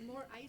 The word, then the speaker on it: Moraes: de Moraes. How do you say your last name? I did. Like more ice in my drink.